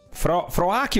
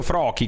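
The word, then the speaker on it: Froakie: Froaki o Froki? Credo si pronunci Froki.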